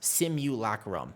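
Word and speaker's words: simulacrum: But even Magister's Terrace Simu Lacum, there you go.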